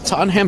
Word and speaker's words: Tottenham: Tottenham Hotspurs. Tottenham. Got it. Tottenham.